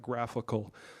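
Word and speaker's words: GraphiQL: interface so this is graph I QL we pronounce that graphical so it's a graphical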